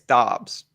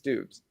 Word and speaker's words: Doubs: Okay, I started with Dobbs. I got flipped to Dubes, and now every time I'm about to say his name, I'm like, don't say Dobbs because it's Dubes.